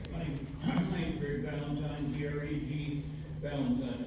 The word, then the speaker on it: Valentine: My name's Greg Valentine, G-R-E-G, Valentine, it's like Valentine's Day, V-A-L-E-N-T-I-E.